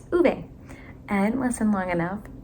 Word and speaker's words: Ove: to say his name I've been saying it wrong the whole time it's uve I didn't listen long